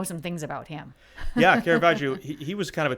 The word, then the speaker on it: Caravaggio: Is it Caravaggio? Caravaggio.